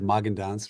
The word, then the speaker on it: Magendanz: My name is Magendanz. Rhymes with Haagen-Dazs.